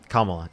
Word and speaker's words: Kamala: So, you think Kamala, is that how you say it? Kamla.